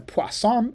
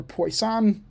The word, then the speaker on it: Poisson: Okay, so there's the normal Gaussian, there's binomial, there's the Poisson, or Poisson, if you don't want to use the French pronunciation.